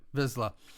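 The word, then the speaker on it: Vizsla: to realize that P his last name was vesla vesla um or vizla you got it vizla um I mean Heaven forbids there pronunciation Star Wars well this is why I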